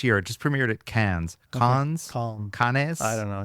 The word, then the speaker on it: Cannes: in French, the important thing is you don't pronounce anything. Anything. You for the first letter, and the rest is just oh. Okay, so con.